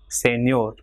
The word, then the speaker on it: señor: For example, here the word ending in R, consonant, so it will be señor. So last syllable ñor will be stressed.